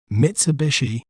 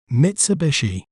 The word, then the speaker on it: Mitsubishi: word to better understand its pronunciation we may pronounce it as Mitsubishi Mitsubishi MIT Su B shei Mitsubishi Mitsubishi has diverse